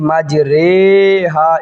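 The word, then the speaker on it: مجريها: এই কায়দাটা প্রয়োগ হবে এখন যেটা বলবো মাজরে সাধারণভাবে আমরা শিখছি রখাদের ঋ শুধুমাত্র এই মাজরে হা শব্দটার সময় এই জায়গায় পড়া লাগবে কি পড়া লাগবে এ রসিকারের উচ্চারণ বাদ দিয়ে এ কারের উচ্চারণ করতে হবে মাজরে হাজরে হুবহু এই শব্দটাই আসবে তাহলে এই যে রজের ঋ পড়ি না এখানে পড়তে হবে রে শুধু এই শব্দটার ক্ষেত্রেই এটা হবে আর এক জায়গায় আসবে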